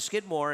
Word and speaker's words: Skidmore: Race number 7 off the turf, the Skidmore. And obviously, you know, in some ways, obviously, turf race you want to see. Rhymes with Whitmore. Isn't that a perfect transition?